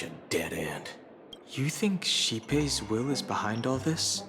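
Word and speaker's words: Xipe: Maybe it's Shipei the Harmony Pool. I forgot that's how you say it. Shipei.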